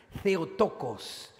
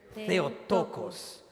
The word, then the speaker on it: Theotokos: In Greek, the title Mother of God is pronounced like this. Please repeat after me. Theotokos. Theotokos.